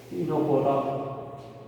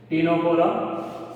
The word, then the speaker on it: Ctenophora: Ctenophora, all aquatic, but कुछ और होता है. नाम लिखो. C is silent. Ctenophora, C is silent. So we'll study, name it or we'll call it Ctenophora.